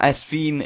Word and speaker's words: Sveen: And the top two are Sveen is actually the proper way to pronounce it, I've heard, and Arnautovic, whose price has actually gone up because of his inform at right mid.